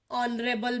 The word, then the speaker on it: honorable: For example, an arms, an honorable man. So here in both the examples H is not pronounced.